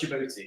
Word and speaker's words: Djibouti: Yeah, I know Djibouti It's actually pronounced Djibouti.